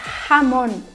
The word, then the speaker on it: jamón: A gente vai ter a palavra jamón, por exemplo, ok? Jamón, que se escreve com J, significa presunto.